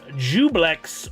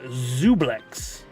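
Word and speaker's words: Juiblex: Uh, I'm gonna call can be pronounced either Jublex or Zublex.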